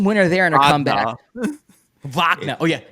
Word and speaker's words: Wagner: France Wagner game winner there in a comeback vagna oh yeah V vagna pronounce it correctly don't don't don't don't do don't